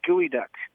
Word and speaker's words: geoduck: their mascot is the Gooey Duck. The Which gooey is a kind duck. of a giant clam. Yeah, that's Geoduck, right? Gooey duck.